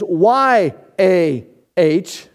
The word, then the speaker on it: Yahweh: Us Gentiles, Americans, okay, we have to put a couple of vowels in there so we can pronounce it.